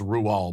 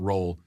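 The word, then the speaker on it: Roald: rual doll's book the witches yes it is pronounced ruel by the way not roll in the movie hathaway's character is which i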